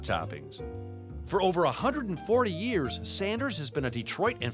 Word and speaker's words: Sanders: for me all right is it sanders or saunders it's sanders there is no u in it i was right